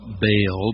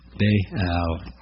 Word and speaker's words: Baal: fertility in it Beal as children I was taught baale but it has two syllables and our better translations all show that now Beal she was daughter of